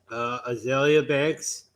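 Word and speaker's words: Azealia Banks: 485 is Azalea Banks. Did I pronounce that right?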